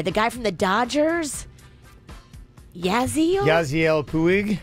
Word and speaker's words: Yasiel Puig: Yasiel Puig. Yasiel Puig.